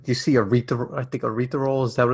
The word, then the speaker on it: erythritol: Is there any merit to, like, you see erythritol, is that what it's called? The natural sweeteners that they say. Erythritol. Is that, I've been pronouncing it wrong for years.